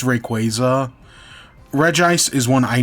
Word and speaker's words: Rayquaza: And that's what like there are some that I will fight on like you know Rayquaza. It's Rayquaza. Re ice is one I know I'm pronouncing wrong and I yet I will still pronounce it wrong.